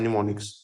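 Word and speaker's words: mnemonics: अब असेंबलर का मतलब है कि पुरानी असेंबली लैंग्वेज के निमो निमोनिक्स सॉरी निमोनिक्स इसमें एम साइलेंट होता है निमोनिक्स ये आपको पता होगा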